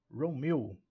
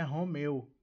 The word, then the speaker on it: Romeo: nós temos alfa e a pronúncia especial aqui para o Romeo não é Romeu Ok mas a sílaba tônica Row ou r r meu